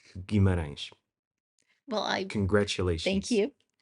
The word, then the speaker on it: Guimarães: I I think think it's the best time I've heard someone not from Portugal pronouncing Guimarães.